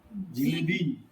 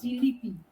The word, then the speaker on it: জিলিপি: জিলেবি জিলেবি না, জিলিপি, জিলিপি। জিলিপি তাই তো, হ্যাঁ জিলিপি, এই জিলিপি ওই জিলিপি হিন্দি না, হিন্দি হিন্দিতে কথা অনেক, তার জন্য জিলিপিটা আসে।